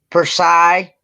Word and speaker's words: Versailles: It's pronounced what? Versailles.